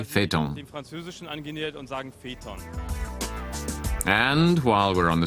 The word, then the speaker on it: Phaeton: But it's also used in French, where it's pronounced Phaeton, and we've used the French pronunciation, so we say Phaeton.